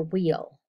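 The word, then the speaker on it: wheal: ulcer vesicle and a wheel last one is spelled correctly w-h-e-a-l and it's pronounced wheel i know it doesn't look that way it's not the wheel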